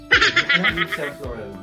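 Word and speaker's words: Saint Laurent: po to Ito po 5,000 5,000 po' an sa lauran sa Lauren tamang pronunciation pv sa Lauren 5,000 po kamahal kong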